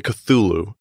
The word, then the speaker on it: Cthulhu: t like we say cthulhu yeah but cth was like phlegm it's hulu like that's how it's supposed to be pronounced i hate it i